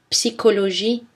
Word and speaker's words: psychologie: Mais attention, dans certains mots, CH se prononce K. Archaïque, archéologie, bac, cholestérol. Christ, orchestre, psychologie, technique.